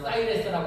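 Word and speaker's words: Cyrus: 페르시아의 고레스라고 하는 왕이 있었습니다.이 고레스 왕은 주전 육수에게 페르시아를 통치했던 왕이고 영어 발음으로는 사이레스라고 합니다.이 고레스는 성경에도 등장하지요.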